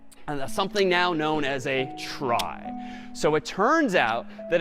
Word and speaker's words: trie: it's short for retrieval but pronounced try for weird historical reasons, but a try is a tree each of whose nodes is an array.